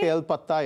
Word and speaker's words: kale patta: What is this, kale pata? Is that how you say it? Yes, kale patta, yes.